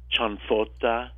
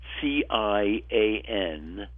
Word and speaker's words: ciambotta: something that Southern Italians call Ciambotta, Ciambotta, or Ciambotta, with an M, C-I-A-M. Actually, there are a lot of different ways to pronounce this word, depending on where you come from in the south of Italy, meaning Calabria, Basilicata, Campania, which